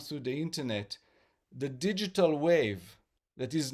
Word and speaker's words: WAV: And so we always recommend for people to download not to stream but to download high quality audio wave file. Wave is spelled wav in order to get the full vibration in order to get the full impact of the healing of music.